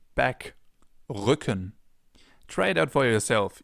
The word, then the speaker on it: Rücken: This sound is different than in English. In English it would be R. In German it's R. We form it more in the back of our mouths.